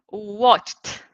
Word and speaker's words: watched: So here I say watched, watched, okay? Let's repeat. Watched, watched. I guess you are doing that where you are, right? So you have to put, you have to pronounce as a T, okay?